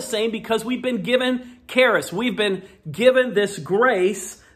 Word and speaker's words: Charis: this word for Grace a word called Charis or cherish some people pronounce it but Keras is what I like to say and it's this idea